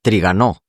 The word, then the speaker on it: Trigano: Entonces Trigano se pronuncia Trigano. Si es francesa, con la tilde en la O. No lleva tilde. Trigano. Ya, pero en francés todas las palabras son agudas.